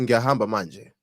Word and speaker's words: ngiyahamba manje: Okay, ngiyahamba manje. Ngisayolala. Did you hear that? That was Nyahamba it. manje. I'm gonna say it, he's gonna say it. Nyahamba manje ngisayolala. Okay. Ngiyahamba manje ngisayolala.